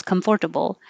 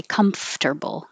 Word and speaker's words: comfortable: make yourself comfortable comfortable if i hear four syllables comfortable i know oh what language do you speak it's not a native english speaker because in my head i have to say that to spell it comfortable but in saying it i don't think about what it looks like i just say comfortable comfortable snore this one